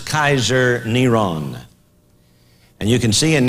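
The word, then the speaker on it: קיסר נרון: five volume set this his name was pronounced as Kaiser neron and you can see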